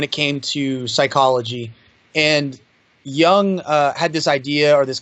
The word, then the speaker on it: Jung: another big big person for me is Carl Jung okay and I mean writing that down yeah it's spelled ju in G Jung he was you